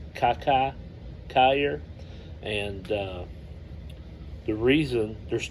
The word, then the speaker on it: Kiki Cuyler: next a guy that I pronounced his name incorrectly it's kakai Kayer I always call him Kiki but by reading some of the history I believe it was pronounced Kaka Kayer and uh the reason